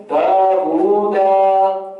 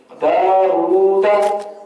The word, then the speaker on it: داوود: آپ اس کے اگر کوئی پڑھتا ہے داوود دا اس طریقے سے پڑھیں گے تو غلط ہے. داوود اس کا طریقہ ہے داوود داوود. اس طریقے سے اس کو پڑھتے ہیں.